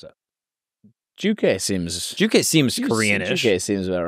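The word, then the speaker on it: 주체: self-reliance is essential about pronouncing it. Simply Juche.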